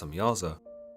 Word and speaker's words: Semjaza: The leader of these angels, known as Semjaza, sometimes pronounced Samyaza, tells the Watchers that